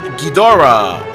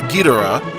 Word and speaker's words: Ghidorah: so number two is king ghidorah or guitarra however you want to pronounce it i usually say ghidorah king ghidorah is again my all-time